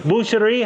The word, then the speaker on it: boucher: Boucherie, how do you say? In French, we say boucher.